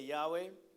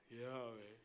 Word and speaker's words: Yahweh: Everybody say Yahweh. Yahweh. Yahweh is the name for the God of the Israelites, representing the biblical pronunciation of YHWH.